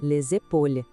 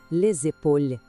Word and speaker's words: les épaules: Já os ombros, que geralmente falamos no plural, são les épaules. E aqui temos a liaison de novo. O S de les se conecta com o E e faz aquele som de Z, les épaules.